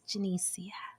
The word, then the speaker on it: Janiceia: Like my name has been mispronounced my entire life, right? I don't cuss people out like, "What are you dumb?" I'm just like, "No, it's Janiceia, right?" Because people don't know even though it's phonetic.